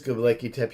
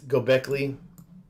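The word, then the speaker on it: Göbekli: lekitep and where is koblekitep you might ask i said it wrong like i usually do it's gobekli so this is a turkey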